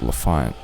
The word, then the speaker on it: L'Enfant: Goodbye, LaFont Plaza, the neighborhood next to my neighborhood that provides the pun/movie reference that I'm basing this entire video on. And it is pronounced LaFont, but you know what?